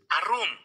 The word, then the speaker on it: Arum: maka juga jadi telanjang jadi Arum ya Arum jadi artinya juga artinya apa saudarabuka itulah Arum ya bacanya Arum ya cerdik telanjang terbuka apanya